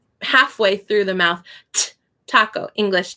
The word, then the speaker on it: taco: My teacher said the way to do the A in Spanish is you drink water. So taco. Again, the C, we say it harder and it's a little bit softer in Spanish. Taco, taco. And the O is like, oh, taco, taco.